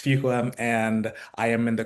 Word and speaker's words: Fuqua: So I'm representing Duke University's Fuqua School of Business, and that's Fuqua. It's hard to pronounce, but it's Fuqua.